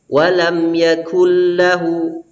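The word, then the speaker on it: ولم يكن له: ayat yang keempat ini membaca huruf Kaf dengan tebal sehingga mirip dengan sehingga mirip dengan huruf qaf padahal yang benar Insya Allah walam yakullahu walam yakullah dan di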